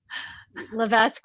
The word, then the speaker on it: Levesque: Levesque, and hopefully Oh, Hannah I has said that your spelled last out name somewhere. wrong. It's okay. It's you. It's French Canadian, and the S is silent, but Levesque works too.